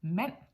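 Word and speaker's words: mand: the ND for example in men as in a man yeah m a n d met as you can hear there is no D in the pronunciation although there is one in the writing for the L I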